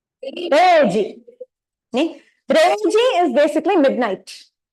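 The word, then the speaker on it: 零時: So 0 in Japanese is re. So you pronounce it as reji.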